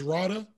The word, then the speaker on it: Radha: uh is i want to make sure i pronounce sorry it's radha mm-hmm yeah okay so so in rawness time